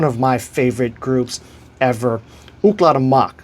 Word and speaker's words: Ooklah the Moc: One of my favorite groups ever, Cla Mach. So to spell that is O K uh L A H the T H E and Mach M O C.